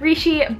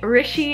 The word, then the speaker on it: Rishi: The next book I read was When Dimple Met Rishi by Sandhya Menon. Actually, I meant to say Rishi, it's Rishi. I keep saying it wrong, but in the book,